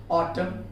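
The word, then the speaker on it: autumn: जैसे ऑटम, column, कॉन्डेम, ये हो गया सॉलम, ये सारी चीजें के एंडिंग में यहाँ पर देखिए MN आया हुआ है, वहां पर उसे N को साइलेंट करना है।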